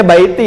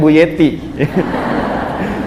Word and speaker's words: baiti: Bacanya baiti ya, bukan buyeti.